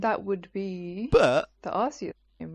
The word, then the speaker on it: Arceus: I think Arceus is the actual, like, the canon pronunciation. I think that's how they pronounce it in the trailer.